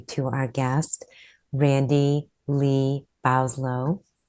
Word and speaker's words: Bowslaugh: Our Guest Randy Lee boslo I pronounced your last name correctly oh Bose ball Bo's law thank you Randy is